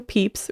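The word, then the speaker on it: Pepys: the diary of samuel peeps written in the 1600s now his name is spelled p-e-p-y-s but this author says it's pronounced peeps believe it or not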